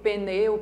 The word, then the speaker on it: pneu: Confunde porque na pronúncia nós colocamos um izinho aqui, ou um E, pneu, pneu.